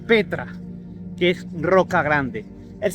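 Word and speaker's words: πέτρα: piedra es igual, es la 4073 que se pronuncia Petra, que es roca grande.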